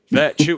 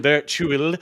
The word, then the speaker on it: virtue: Virtue, yes, virtue. It just sounds like I'm saying virtual, but I'm saying virtue.